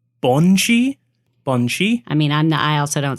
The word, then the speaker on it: banshee: So I think it's pronounced Bonshi.